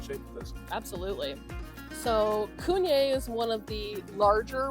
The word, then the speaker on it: CVNE: Yeah, and the reason that it is CVNE, they're called Cunye, but their first label that they ever created was printed wrong. CVNE, and so now that is why all their labels are CVNE, but they're pronounced Cunye.